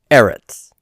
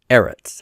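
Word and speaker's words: ארץ: word for earth or land is Eretz Eretz and the stresses on the first syllable so it's not final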